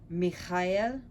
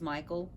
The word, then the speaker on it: Michael: attributed to iolite are michaela and gabriel mikhail which is michael and gabrielle but it's supposed to be kyle the ch is always like a loch pronunciation michael so i like